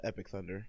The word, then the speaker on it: EP1K_THUND3R: too because it's not correctly spelled? Spell it. It's not PC. It's EP1K_THUND3R.